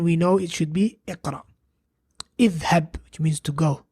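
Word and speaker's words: اقرأ: So we say iqra, what we're doing right now, which is read. Iqra. We don't say aqra or uqra if it starts with hamzatul wasl. We say iqra.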